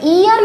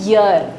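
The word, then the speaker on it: year: है य का, तो इसे आपको ईयर नहीं पढ़ना है, इसको आप पढ़ते हैं यर।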